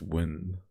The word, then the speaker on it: Nguyen: I mean, if you pronounce it properly, you shouldn't even say the first syllable. It's pronounced win. I don't know, man. All of the Vietnamese people that I know that are called Nguyen pronounce it like that, but fair enough.